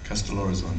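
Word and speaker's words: Kastellorizo: So, Castellorizon, do you pronounce it that? Castellorizon, yes. I've always wanted to. It's from the Italian, Castello Rosso.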